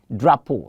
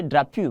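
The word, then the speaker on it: drapeau: we're having that experience people will say drop you please it's not drop you it's drop pole the p-e-a-u there is pronounced as o and so you say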